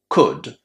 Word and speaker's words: could: Would, could, should. As you can hear, the letter L is silent just as in walk and talk.